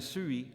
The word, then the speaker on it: sui: The diphthong ui, as in sui, I am, and lui, him, is pronounced with the front rounded vowel of tu, followed by yod.